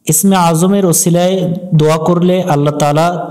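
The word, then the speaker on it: الله: ল এজন্যই বললাম এটাকে আল্লাহ শব্দ বলে আল্লাহ শব্দের ডানে জবর হলে আল্লাহ শব্দের লামকে করে পড়তে হবে অর্থাৎ ল পড়তে হবে লা পড়া যাবে না এবং লামের উপর খারা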